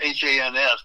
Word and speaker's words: Hans: It's H-A-N-S, but it rhymes with chance.